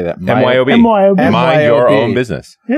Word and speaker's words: MYOB: MyOB.